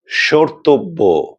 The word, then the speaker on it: স্মর্তব্য: যুক্ত হয় তাহলে সে মফলা বা ময়ের কোনো রকম উচ্চারণ হবে না, তবে মফলা যুক্ত বর্ণের উচ্চারণে খানিকটা নাসিক্য প্রভাবিত উচ্চারণ হবে, অর্থাৎ একটুখানি নাকি স্বরে উচ্চারণ করতে হবে। আমি কটি শব্দ বলছি, আপনারা লক্ষ্য করুন। যেমন ধরুন, স্মরণ, স্মৃতি, স্মারক, স্মর্তব্য, স্মরণীয় ইত্যাদি। আপনারা লক্ষ্য করেছেন যে প্রত্যেকটি বর্ণের সঙ্গে মফলা যুক্ত আছে, কিন্তু ম বা মফলার কোন রকম উচ্চারণ হচ্ছে না, বরং মফলা যুক্ত বর্ণটির উচ্চারণ একটুখানি নাকি স্বরে হচ্ছে।